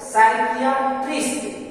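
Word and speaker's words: psychiatrist: जैसे पी एस वाई सी एच आई ए टी आर आई एस टी, इसका सही उच्चारण हो जाएगा साइकियाट्रिस्ट। इसमें पी एस कॉम्बिनेशन बना रहा है, पी आगे है इसलिए पी साइलेंट हो गया।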